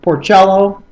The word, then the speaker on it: Porcello: Rick Porcello, awesome. Porcello. Whatever. Porcello. I've never heard anybody say Porcello other than you. Play a cello.